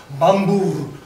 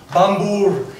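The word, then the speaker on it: Bombur: in the appendix e most appendix e ised way is bambo bambo which is exactly kind of what appendix e would tell you with the rolling RS and the and the or sound so it's bomor so that's not at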